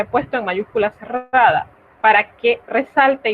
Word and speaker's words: pas: Pa, así se pronuncia. Quiere decir que esta S no se pronuncia.